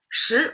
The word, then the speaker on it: 十: Shí retains the pronunciation, doesn't have the E problem because shí is a rising tone. It's already got in got its um tonal change.